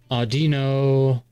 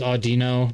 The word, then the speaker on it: Audino: Audino. I think that's how it's supposed to be pronounced, right? Is Audino, not Audino. I know we're not supposed